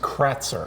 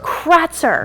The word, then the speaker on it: Kratzer: pronounce your last name last name is pronounced Kretzer Kratzer that's correct yes sir okay I was gonna